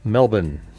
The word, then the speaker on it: Melbourne: Florida as part or the Australians would say Melbourne. Okay, Melbourne. Just basically Melbourne. Gonna go to Melbourne. That's not how they say it.